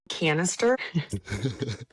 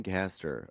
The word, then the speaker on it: Caster: Wait, are you saying Canister? I'm also dyslexic. Caster.